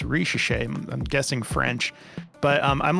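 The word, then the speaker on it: Risacher: for it in search, it's spelled like Riesiker is what I thought it was. And I'm glad I double checked because it's Richeche.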